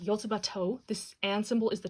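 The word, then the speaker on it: Yotsuba&!: about that but someone informed me this is pronounced yotabato this and symbol is the toe but the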